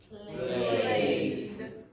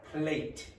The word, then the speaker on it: played: sound, then you pronounce with a d, not a t, a d. So called. Called. Played. Played. I should not be hearing t.